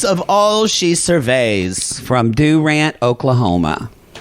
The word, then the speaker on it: Durant: From Durant, Oklahoma. Not Durant? We don't say Durant. We say Durant.